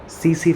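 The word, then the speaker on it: tsetse: S से sleeping sickness, T से trypanosoma, और T से ही सीसी फ्लाइज। अच्छा, सीसी फ्लाइज ये T से ही हो, स्पेलिंग इसकी T से ही होती है, TSE फ्लाइज, राइट।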